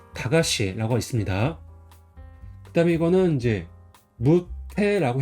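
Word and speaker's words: 駄菓子: 발음은 다가시라고 있습니다.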